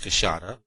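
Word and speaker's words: queixada: the big white-lipped peccary, the cachada, which is pronounced cachada, of the Brazilians, which would make our collection of the big mammals of the Brazilian forest almost complete.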